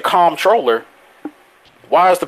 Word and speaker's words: comptroller: say them, but hey, say this, but don't pronounce this letter that's in there. Then why is it there? If I'm not gonna sit here and pronounce it, why is it there? Like there's okay. There's a word called comp. There's a word called I'm pronouncing it bad. I'm pronouncing it the bad way on purpose right now. There's a word called comptroller. COMP troller. So I'm like, but you're supposed to say comptroller.